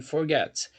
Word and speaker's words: forget: sílaba mais forte então aqui no caso a sílaba mais forte é a segunda é a sílaba final então eu falo Forget Ok Forget a sílaba tônica é a final ok e se você